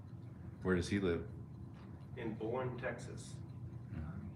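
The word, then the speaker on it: Boerne: In Bourne, Texas. Bernie, Texas, I guess you pronounce it. B-O-E-R-N-E.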